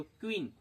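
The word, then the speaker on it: queen: इसको यू का उच्चारण वोवेल जैसा नहीं करते हुए हम लोग पढ़ेंगे इसको क्वीन।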